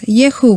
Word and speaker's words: YHUH: And of course, we're going to use the word of Elohim, and we're going to call the Yud Hey Vav Hey as Yehu, which is the most simple form to mention this four-letter name of which the Lord manifested himself in the past.